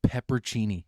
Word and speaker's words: pepperoncini: pretty big ones okay it's spelled pepperoncini but no one calls it that that's why would you call it that's that's what it's called it's called peppercini no one calls you